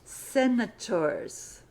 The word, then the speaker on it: senators: So we put an S on the end of senator and we pronounce it senators. You might notice this first S is pronounced S, and the last one is pronounced Z. Senators.